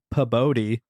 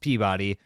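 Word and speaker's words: Pabodie: know why that's so it's pronounced Peabody because that is the original pre-1900 spelling of Peabody I don't care for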